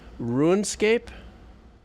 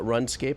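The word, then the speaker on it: RuneScape: game is uh I I have to say this right because I got I got uh schooled on this ruinscape with a long u not runscape but ruinscape so uh here we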